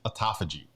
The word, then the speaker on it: autophagy: There are permutations of this word, but I think it's autophagy. Autophagy, Yeah.